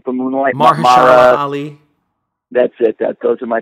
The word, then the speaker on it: Mahershala Ali: Best supporting actor is going to be, how do you pronounce his name from Moonlight? Mahershala Ali.